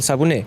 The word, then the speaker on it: Sabouné: mum hey Mon okay okay I'd like to pronounce things correctly so yeah yeah so it's subunit yeah that's great oh thank you get that